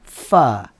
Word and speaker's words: pho: pho yeah Pho with is pronounced fur their soup it's like